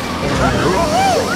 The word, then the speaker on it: Arizona: Then when I'm looking at Arizona, I have the stress is on the zone syllable, third syllable. Although this letter AR does say the air good vowel, so again I have a clear vowel there, air, Arizona.